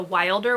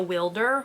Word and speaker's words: Wilder: audio of this one I was pronouncing it the Wilder women it's actually the wielder women so just you know